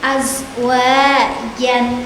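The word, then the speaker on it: أَزْوَاجًا: Perhatikan contoh berikut ini pada bacaan azwajan. Nah, itu merupakan mad iwad Karena apa? Karena fathah tanwin, kemudian setelahnya ada alif dan ada wakof. Wakof itu berhenti. Berarti bacanya adalah azwaja.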